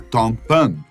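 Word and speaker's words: 똥빵: Olha, gente, o nome eu sei que não é lá em coreano, essa pronúncia certinha seria Tongpan, que literalmente significa pão de fezes.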